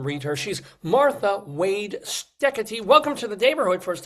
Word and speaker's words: Steketee: She's Martha Wade Steady. Welcome to the neighborhood. First of all, Martha, why thank you, Dave. I'm happy to be here and thank you for pronouncing my weird Dutch name correctly.